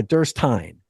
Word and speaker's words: Derstine: Um, it's, uh, Durst uh, Durst Tine. Rhymes with Pine.